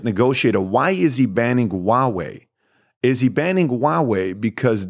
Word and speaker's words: Huawei: So I think the problem with Huawei, is that pronounced Huawei? Huawei, that's the right word, yeah, Huawei.